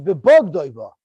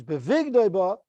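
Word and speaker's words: בבגדו בה: on the Messiah, which is how it's written, which is bebog doiba. Therefore, once he sells her, he may not sell her again. Rabbi Kiva savar yesh aim lemikra, which is the way it's pronounced, which is bevig doiba, and that means once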